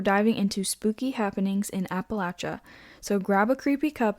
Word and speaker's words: Appalachia: that I've listened to, people who are from there call it Appalachia. My whole life thought it was Appalachia. The Appalachian Mountains. Yeah. But apparently it's Appalachia. They pronounce all the syllables. Yeah. Every single syllable.